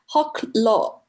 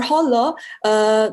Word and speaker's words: Hoklo: And if they say people, then it's like Hoklo, because it just pronounces like that. So Fujian people, it means just the people from this province. So Hoklo or Holo, they refer to the same thing.